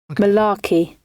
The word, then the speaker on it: malarkey: thing play it here we go yes google pronounce save enjoy a slice at the origin malarkey Mike Mularkey malarkey malarkey makes it even have